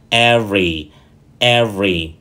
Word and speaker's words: every: every hoặc là evy trong khi đó nó chỉ có hai âm tiết thôi chúng ta có EV và every every chúng ta cùng nhau